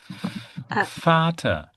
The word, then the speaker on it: Vater: V. V. V. And we pronounce like F. Vater.